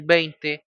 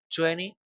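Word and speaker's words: twenty: El 20 se puede decir de dos maneras, 20 y 20. La diferencia es que cuando nosotros decimos 20, estamos omitiendo la t que está al final. Esto se usar más que todo en el inglés cotidiano, en el inglés rápido, en el inglés más fluido.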